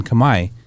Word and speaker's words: Khmer: That's the Khmer language. Yeah, it's spelled differently from what it says. So you say Khmer, then they understand that you understand the language.